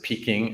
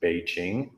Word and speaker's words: Beijing: sort of mispronounce it peaking actually p-e-k-i-n-g is supposed to be pronounced Beijing just the same way as it is today it's just we read